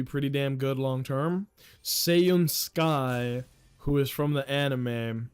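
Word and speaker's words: Seiun Sky: Did you say Seiyun Sky? That's not how you say her name, though. It's S-E-I-U-N. Seiyun Sky.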